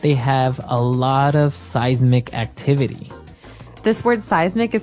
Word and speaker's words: seismic: And so seismic activity refers to earthquakes and volcanoes, things that are changing under the ground that will affect us. Okay. So that's seismic activity.